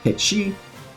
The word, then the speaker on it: Cait Sith: But director Naoki Hamaguchi has come out and said that it is actually pronounced Ketchi. So in respect to him, I'm going to call this character Ketchi from now on.